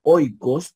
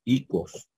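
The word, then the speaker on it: οἶκος: iríamos hijo verdad hijo y en vez de decir oicos diríamos icos de igual manera en en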